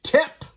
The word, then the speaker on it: Tep: PK a guy named tep which rhymes with Hep which rhymes with kind